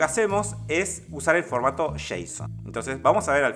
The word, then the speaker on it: JSON: entender Qué significa Jason se escribe json y se lee Jason Jason significa javascript object